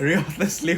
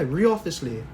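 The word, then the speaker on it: Wriothesley: Oh yeah, Riothesley. Riothesley. It's like saying wrath, like the W is silent. Yeah. Riothesley.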